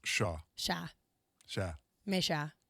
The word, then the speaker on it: cher: Oh, it's actually pronounced shah.